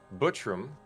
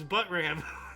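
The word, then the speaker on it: Buttram: 1994 Pat B Pat butam us actor and comedian oh you didn't say it right it's but ram butt ram wow really well well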